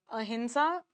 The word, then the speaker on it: अहिंसा: कारण जो non violence का कांसेप्ट है, देखो अच्छा अहिंसा प्रोनाउंसिएशन है। नेज़ल साउंड आता है। लेकिन लिखते एम से हैं।